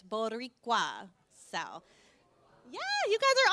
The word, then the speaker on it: Boricua: So in case you're wondering again how to say it, it's Boricua.